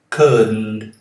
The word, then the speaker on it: couldn't: Couldn't. Então não tem nenhum som aqui depois de D. Um vício muito comum entre os brasileiros. Eles falam couldn't. Não tem esse D aqui, ok? O D é mudo.